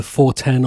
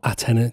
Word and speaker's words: Atena: So next up is either 410 or Atena, depending on how you want to pronounce it, from WMD.